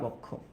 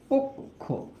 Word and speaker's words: পক্ষ: আর এটার উচ্চারণ কিন্তু পক্ষ না, এটার উচ্চারণ কি জানো? উচ্চারণটা হচ্ছে পক্ষ, পোক, এই যে পক্ষ।